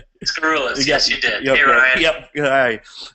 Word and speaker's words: Skaroulis: This is Ryan Hoy aka Massage Nerd and today we have a special guest, Scarulis. Did I pronounce that right? Scarulus.